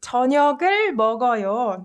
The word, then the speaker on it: 저녁을 먹어요: with this is that you just move this 기역 받침 to the next letter and read it as if this is the first consonant. So this word is pronounced 저녁을 먹어요. You combine this 그 sound with 어 vowel, right?